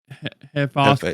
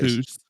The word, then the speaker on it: Hephaestus: Hephaestus. Hephaestus. Yeah, Hephaestus.